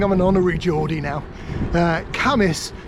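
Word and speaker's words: Cambois: an honorary Geordie now, Camas is spelt C-A-M-B-O-I-S. So for years I called it Cam Boys, and got dodgy looks from the locals.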